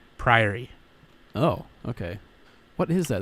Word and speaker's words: Priory: calling Priory is it is this Prairie or what no PRI ary priori oh okay what is